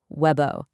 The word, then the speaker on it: Webo: It's Webo, pronounced Webo. Simple as that.